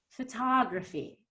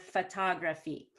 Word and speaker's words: photography: that breath of air photography instead of photography so if you go photography it's going to feel to me a native speaker like somebody's hammering me in the head and then